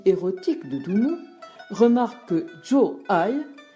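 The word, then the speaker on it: 坐爱: D'autres, invoquant la poésie érotique de Dumont, remarquent que Zhou Ai se prononce comme faire l'amour et imaginent une scène du fiacre flaubertienne sous la dynastie Tang.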